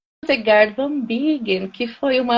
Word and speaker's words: Hildegard: A pronúncia é Hildegard, é isso? Isso, Hildegard de Bingen, na Alemanha.